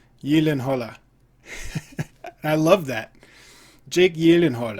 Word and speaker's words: Gyllenhaal: pronounce his name and he said the correct pronunciation i think was yellin hala ye lin holla i love that jake